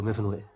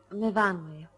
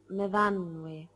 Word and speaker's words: Myfanwy: What do you do, Myfanwy? No, Myfanwy. We pronounce it Myfanwy.